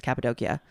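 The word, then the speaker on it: Cappadocia: never heard that because I'm pretty sure Capidoshia is in the Bible as well, like mentioned." Yeah. And that's how I always heard it pronounced, but I think it's the Turkey way to say is Capidokia.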